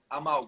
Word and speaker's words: amálgama: Amalgama, ¿cómo se dice en Brasil? ¿Amalgama? Amálgama. Amálgama.